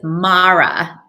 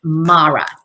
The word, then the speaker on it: Maura: so funny about it my name is mara and it rhymes with laura but i come from